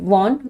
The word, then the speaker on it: wan: The next word is वॉन। इसका spelling में तो WAN होता है, बट इसके प्रोनाउंसिएशन में वॉन बोलते हैं।